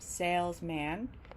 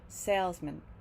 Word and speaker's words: salesman: sound stressed man but when man appears in salesman it gets reduced and it sounds more like mint salesman salesman because we're stressing sales and not man so it's not salesman but salesman salesman here's another really